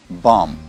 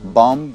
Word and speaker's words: bomb: Первое слово – bomb. Слово «бомба» – это не «бомб». Последнее «би» в нем не произносится. Bomb, bomb, bomb, bomb, bomb, bomb, bomb.